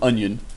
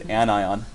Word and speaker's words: anion: Yin okay even though if you switch the a with a no would become onion that's not an Yin it is anion and cation okay it should be easy